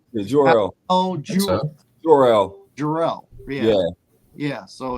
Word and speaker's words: Jor-El: They obviously got Bradley Cooper to play Jarrell. Jarrell. What? How do you pronounce it? Is it wait? Hold on. It's Jarrell, right? Yeah, Jor-El.